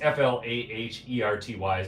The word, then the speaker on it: Flaherty: Rob Flaherty is that his name I it's f-l-a-h-e-r-t-y how do you say that Flaherty okay sisa